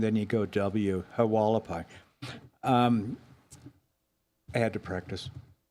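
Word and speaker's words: Hualapai: you say the tribe name again the delumway? No, the walapai. Walapai. Thank you. The tribal name. Oh, yeah. Then met with a halapai. you go an H sound, then you go Walapai.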